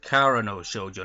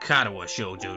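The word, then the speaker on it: 殻ノ少女: like recently replayed through, was it pronounced Kara no Shoujo, not Karawa Shoujo, entirely different game.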